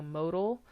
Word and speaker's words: modal: class all right so modal think about the root word there mode it's not model i know it looks like that but that would be spelled with an e right we're in math